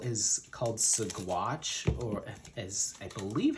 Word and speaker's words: Saguache: The area is called Saguache, or as I believe how it's pronounced. Originally we were calling it Saguache, but it's a small like municipality.